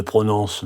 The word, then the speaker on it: prononce: pas dans le qui le U de qui ne se prononce pas le ent de prononce se prononce pas le